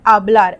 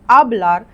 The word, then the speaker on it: hablar: escribir, to write, hablar, not hablar but hablar. H is silent in Spanish. We don't say hablar, we say hablar.